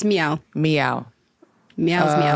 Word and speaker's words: MEOVV: It's Meow. Meow. Meow's Meow. There's no V.